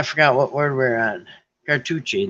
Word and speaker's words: Cartouche: what word we're on cartuchi that's right car like touch but with an E like tushy a car Touch Car touch e oh douche cartoons Cartouche